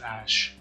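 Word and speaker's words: Æsc: Oh, AESC, that's how you pronounce it, Ash. It is a very old spelling of that particular tree.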